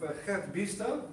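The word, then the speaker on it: Gert Biesta: And here I go a bit into the work of Gert Biester, as we pronounce his name in Dutch, educational philosopher, who talks about education as existing with the world.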